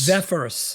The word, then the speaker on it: Zephyrus: Zephyrus, that's it.